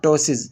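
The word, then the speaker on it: ptosis: हम क्या कहते हैं टसिस इसमें पी साइलेंट है ठीक है और यह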